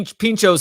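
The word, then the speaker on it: pintxos: you had this item by the way P Pinchos is how you pronounce that they're small snacks traditionally eaten in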